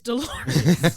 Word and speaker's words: Dolores: Yeah, it's not Doris. It's Dolores.